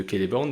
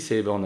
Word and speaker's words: Celeborn: le nom de de keleborne donc je CIS que j'ai dit Celeborn avant c ça se prononce k donc keleborn le cliffender de fin